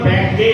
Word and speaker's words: ব্যাঙে: আছে, এই ওর যে উচ্চারণটা সঠিক হচ্ছে না, তোমার ব্যাঙে গ হয়ে যাচ্ছে, ওয়াই গ উচ্চারণ হয়ে যাচ্ছে। কি করবো? উচ্চারণটা কেমন হচ্ছে দেখো, আমি করে দেখাচ্ছি। ব্যাঙি ব্যাঙি ব্যাঙে আবার, এই উচ্চারণটা কারেক্ট। কি বললাম? হ্যাঁ, গটা যেন না আসে।